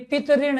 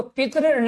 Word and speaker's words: पितृण: तो यहाँ आपको ये ध्यान रखना है, ये जो है ना, एक तो शब्द आपका ये हो गया, आपका ये पितऋण नहीं है, ये तो पितृण है।